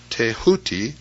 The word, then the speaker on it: Thoth: Egyptians as the ibis-headed scribe of the gods Thoth, pronounced Tehuti.